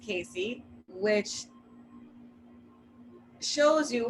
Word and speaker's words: CACI: And then I'm going to tell you about something called the CACI model, the CAACI model, pronounced CACI, which shows you how